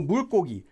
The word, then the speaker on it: 물고기: Notice that it's spelled as 물고기, but it's pronounced as 고기 with a double 기역. So 물고기.